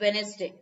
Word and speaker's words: Wednesday: and then there is wednesday yeah so there's d but that is silent wednesday d is also there okay some people might eat this d do not do that wednesday okay this